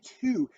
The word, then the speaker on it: two: the number two two when you say two you don't really hear a w so you wouldn't spell it with the w right if you're saying